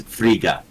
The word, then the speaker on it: Frigga: of two gods uh but she's frigga in this we were saying it wrong she's she is freya but she's not freya fraga so she is she's frigga interesting r-i-g-g-a oh i don't